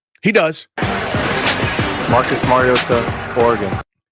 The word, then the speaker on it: Mariota: That is different than what we call him all the time. We call him Marcus Mariota with a tea that barely is there. It's the smallest tea in the history of the world.